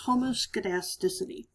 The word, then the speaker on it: homoscedasticity: variance this is called homoscedasticity this is sometimes spelled with a k instead of a c there but regardless it's homoscedasticity and what that means is that we have